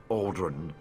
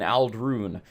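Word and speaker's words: Ald'ruhn: of these sites since I've been pronouncing these two wrong the entire time I was saying Bal Mora and Al run all right unless he's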